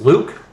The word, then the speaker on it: Luke: Um like I said, I'm I'm my name Lu in English is pronounced Luke." But if you know anything about espanol, E are pronounced as an A. So, I'm often called, which isn't a biggie to me.